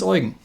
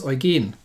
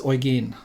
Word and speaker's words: Eugen: wrong myself first this is not the prince oregon because that would be how you would usually pronounce it no this is the prince origin the stress is is is in the rear